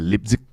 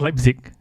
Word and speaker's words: Leipzig: but you know the uh Holland versus uh lipstick lipstick yeah I thought that was brilliant I believe it's pronounced as Leipzig I mean okay okay just to let you